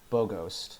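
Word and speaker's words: Bogost: Here we turn to Boghost. Yeah, that's how you pronounce it, and that's how you spell it. So, Boghost.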